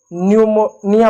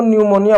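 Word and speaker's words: pneumonia: इसको हम जो है न्यूमोनिया पढ़ेंगे। इसको निमोनिया पढ़ेंगे क्योंकि एन के साथ है। पी साइलेंट है।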